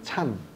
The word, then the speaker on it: Chan: 이제 선종인데 다 이제 그 일본은 젠이라고 읽고 중국은 찬이라고 읽고 우리는 이제 선이라고 말하는데 그건 이제 각각 음이 다르기 때문에 그런 건데 가리키는 거는 똑같은 거. 일본은 ZEN이라 그래서 젠. 그다음에 중국은 CHAN 그래서 찬.